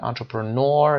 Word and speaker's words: entrepreneur: entrepreneur استرس رو در این قسمت قرار میدیم.